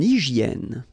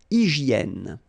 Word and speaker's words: hygiène: H doesn't exist, H doesn't exist in French, so hygiène.